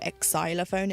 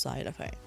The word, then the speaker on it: xylophone: You don't go exylophone. It's just xylophone, you know, just you don't pronounce it.